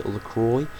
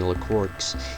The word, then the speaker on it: LaCroix: She's called Remy Lacroy. uh often mispronounced and often misspelled.